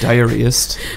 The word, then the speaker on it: diarist: And we know about this, and the show is based on Anne Lister's diaries, and she was like a serial diary diarist. It's pronounced diarist.